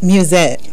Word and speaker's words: Mewsette: pronounced an mus s zett how do you pronounce that music music okay and that's what I thought but